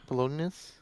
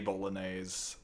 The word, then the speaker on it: Bolognese: Uh bologoness. No, the the actual the actual Italian pronunciation. Oh, they're in ads. Spaghetti Bolognese. Just hold on. It it is actually spaghetti bolognese.